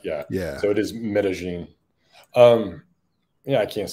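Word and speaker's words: Medellín: But I think they say Medellin. Double L here has a J sound, and a double L in Mexico and wherever else.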